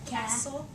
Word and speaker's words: castle: how we would separate Castle right that's how I say it Castle okay so let's think